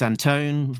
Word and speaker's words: Anton: And um when we spoke to uh Alex Alex Anton rhymes with phone um he uh he